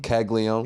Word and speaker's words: Caglianone: Caglianone.